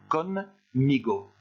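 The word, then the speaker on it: conmigo: Je vous conseille quand vous lisez ce mot-là de faire une petite pause entre le N et le M pour faciliter la prononciation. Con, migo.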